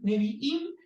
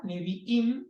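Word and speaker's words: נביאים: que por supuesto que no es ni una I ni una M es una letra hebrea pero se pronuncia Im Entonces nevi es profeta neviim son los profetas Entonces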